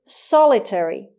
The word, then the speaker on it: solitary: the next word is solitary solitary solitary again the stress is on the first syllable solitary means alone single